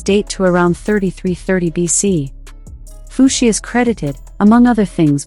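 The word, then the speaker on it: Fuxi: according to Chinese folklore fushi or fushi pronounced fushi and his wife n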